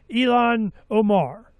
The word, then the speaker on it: Ilhan Omar: Ilhan Omar.